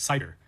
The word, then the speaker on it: CIDR: First is CID R pronounced cider which stands for classless interdomain routing.